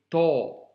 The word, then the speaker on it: ط: Elle ne se prononce pas te, mais to.